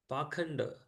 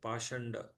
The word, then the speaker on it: pakhanda: Purport: the word Pakhanda used in this verse is sometimes pronounced Pashanda.